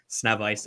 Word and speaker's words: Sznewajs: Yes, it is pronounced Sznewajs.